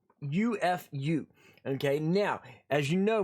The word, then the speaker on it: Khufu: His name is pronounced Khufu, Khufu.